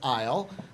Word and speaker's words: Lyall: in trouble one of my favorite is Isle you are a Cowlitz Elder can I